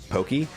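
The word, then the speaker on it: Poké: that's replaced with the character's Poke, with the accent on the E.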